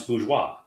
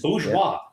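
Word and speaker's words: bourgeois: The term bougie was because people couldn't pronounce bgeoa. They start they started saying bougie. Bougie. It's I'm like, what what are you talking about? It's bgeoa.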